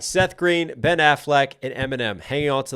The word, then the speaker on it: Affleck: Ben Affleck me but he highlights the second syllable and Affleck instead of most of us do the a he goes Affleck me just to fit it into that one two rhyme scheme that he's doing that's